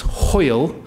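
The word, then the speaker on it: hwyl: one to pronounce its Hoyle rhymes with loyal so can you all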